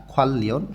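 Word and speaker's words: 관련: তাহলে সিরেগি ফুল্লি ফেসুল আবর্জনা আলাদা করে ফেলা, খোয়াল্লিয়ন সম্পর্কিত, নিউনের পরে রিউল আছে বাচ্চিমে, এটা বাচ্চিমের নিয়ম অনুযায়ী দুইটাই লয় ল উচ্চারণ হবে।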